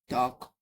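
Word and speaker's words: talk: तो टॉक में क्या है? एल साइलेंट है। ठीक है? टॉक टॉक बोलते हैं। अब यहां पे आप देख सकते हैं। एल ए के बाद आता है साइलेंट आता है।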